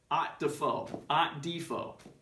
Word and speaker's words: Underdahl: Found out that I am with Underdahl is the proper pronunciation.